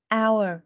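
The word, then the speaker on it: hour: này phải nhớ là âm H là âm câm thế nên là mày không đọc chữ H ở đây mình đọc là our thôi rồi Tiếp theo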